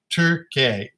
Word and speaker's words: Torquay: down the bottom left the uk pronounced turkey torquay torquay right oh yeah that's